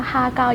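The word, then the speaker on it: 蝦餃: Like shu mai, is that or har gow, is that the correct tone? Uh har har gow, yes, it's correct.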